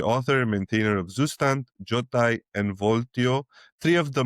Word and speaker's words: Jotai: Well, yes, by the way, I call it Zastan, Jotai, and Vio.